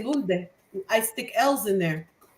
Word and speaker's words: Lourdes: Kiki, it's Miss Penny and me, Lourdes. Lourdes. Yeah, that's the English way. I figured that might be easier. Because if I say Lourdes, they're not going to be able to pronounce it.